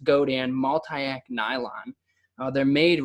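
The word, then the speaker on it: Godin: what we call it go Dan Gio di n pronounced go tan multi AK nylon they're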